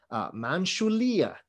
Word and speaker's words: Manjushri: that's very associated with manjushri and he also has in his right hand this is a very chinese version of manjushri who they call him manchulia right that's their pronunciation of manju shri you'll see that he